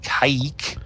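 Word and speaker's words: Kazik: aliens from the planet i think was pronounced caic it was uh k-a-z-i-k but pronounced kaik sort of a weird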